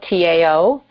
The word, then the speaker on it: Tao: My brother's name is Tao, T-A-O, pronounced Tao, and my sister's name is Chi, C-H-I, so we are Tao, Zen, and Chi.